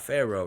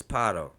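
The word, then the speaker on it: פרעה: A shawah is silent when immediately preceded by a short vowel. For example, paro, right? Because it's not pharaoh, it's paro. The shawah under the resh is preceded by a short a vowel.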